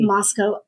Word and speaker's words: Moscow: um the city in Russia but it's it's pronounced differently Moscow Idaho and what this basically the head of